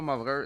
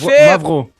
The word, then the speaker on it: Mavraw: C'était Movreur, fucker, pas Movreur, c'est Mavram. Mimi, Phil! Mavro.